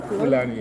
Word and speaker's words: Fulani: Fulani, yeah. They also call them Fulani or Hausa. So yeah, we have three major languages: the Igbo, the Hausa or Fulani, and the Yoruba.